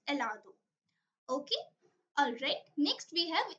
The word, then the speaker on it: helado: It's not helado. It's helado because H is silent in Spanish language.